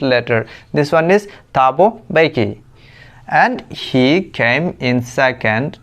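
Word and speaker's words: Thabo Mbeki: This one इज टाबो बेकी and here M is silent letter. तो बहुत लोग हैं उसको पढ़ रहे हैं थाबो मैप की नहीं पढ़ना है।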